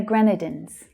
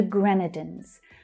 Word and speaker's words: Grenadines: Vincent and the Grenadines. Gren is the stressed syllable there. Grenadines.